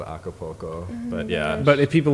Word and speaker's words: Acapulco: pronounce it well yeah I think the correct pronunciation of that is Acapulco with kind of an old sound but most minnesotans would probably say Acapulco Acapulco I was like